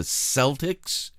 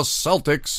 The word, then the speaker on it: Celtics: the basketball team the Celtics I don't know why they used the name Celtic and pronounce it with an S sound it's just a pet